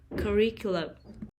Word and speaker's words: curriculum: country music country music curriculum curriculum the stress is on the second syllable curriculum folk music oh folk